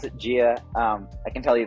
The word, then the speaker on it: Jia: uh you know funding of uh uh of jail right I I believe that's how you pronounce it here yep pronounce it Gia um I can tell you the story if